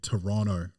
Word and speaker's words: Toronto: Netflix, The Man from Toronto, or Toronto. They say Toronto up there. They don't like you to pronounce that second T.